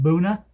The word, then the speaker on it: Buena: You may pronounce it Buena Vista, but I'm told the locals pronounce it Boona.